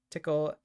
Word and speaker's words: Tcl: place says okay just installed the lib uh tickle that's TCL and TK I believe that's how it's pronounced um okay that makes it easy yeah